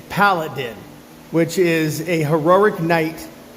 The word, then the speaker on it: Paladin: It's not Palladian, it's Paladin, which is a heroic knight or champion.